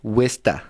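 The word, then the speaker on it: Worcester: but that's not what it's called which is pronounced which what in Massachusetts they say wsta that's right like w i s t e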